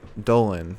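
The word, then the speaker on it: Dolin: little vignette of gigi dolan dolan no it's not pronounced delene anymore she says unlike you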